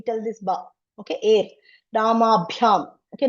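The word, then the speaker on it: rāmābhyām: And this is Mahaprana Bha, Ramabhyam. Some air should be there when we tell this Ba, okay? Air, Ramabhyam, okay?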